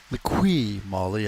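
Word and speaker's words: Liqui Moly: sponsor and L Molly lqu Molly I believe it's pronounced oh yeah it's starting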